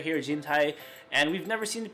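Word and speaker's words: 人体: Jintai means human body. Along this way, we can also guess how it's pronounced. The first kanji has a number of pronunciations, one of which is jin, which is actually the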